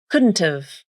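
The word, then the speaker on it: couldn't've: First, the initial H consonant in have is dropped.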